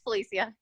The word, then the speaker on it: Felicia: Are we pronouncing it right, or is it Felicia? You sure are. Yeah, mine's the Irish version. It's Felicia.